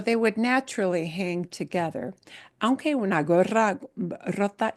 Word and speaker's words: aunque: Uh, how do you pronounce the first word again? Aunque, aunque.